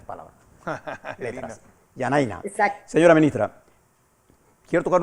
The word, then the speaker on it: Janaina: Yanaína. Yanaína, pues, es mejor, ¿eh? Yanaína. Bueno, me recuerda al Instituto Nacional de Agricultura las últimas 3 palabras. Letras. Yanaína.